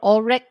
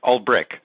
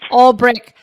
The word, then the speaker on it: Ulbrich: Ulbrich. Did I say it right? No, Ulbrich. Shit. It's all right. Ulbrich.